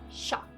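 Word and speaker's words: chat: many like similarities like the French word for cat is shop but it's spelled c-h-a-t it looks like cat it's not hard to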